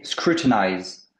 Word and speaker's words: scrutinize: facile pay attention pay attention exactement donc scruter scrutinize donc plus tu as la prononciation juste à côté le dernier i se